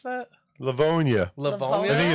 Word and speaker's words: Livonia: you ever come to Livonia, Michigan. How do you pronounce that? Livonia. Livonia. I think it's Livonia. northwest Man. of Detroit, I believe. It sounds like people love pneumonia there.